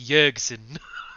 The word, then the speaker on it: Jerkson: Oh, I thought it was J-E-R-K. It's actually, as you guys have this conversation, the dwarf pops his head and goes, it's actually pronounced Jerkson. Jerkson.